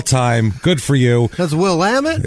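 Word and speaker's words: Willamette: That's Will Ammit. It's it's it's it's Will Ammit is what it is.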